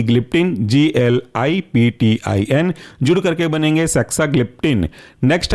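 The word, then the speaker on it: saxagliptin: तीसरा एग्जांपल है साक्साग्लिप्टिन, स्पेलिंग है SAXA, बाकी ग्लिप्टिन GLIPTIN, जुड़ करके बनेंगे साक्साग्लिप्टिन।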